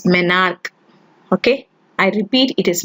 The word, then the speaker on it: menarche: If menarche, and sorry to pronounce it as menarche in the last video, it is not menarche, it is menarche.